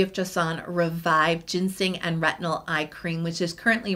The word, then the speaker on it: retinal: take on retinal and it's retinal dehy not retinol spelled with an O um and I think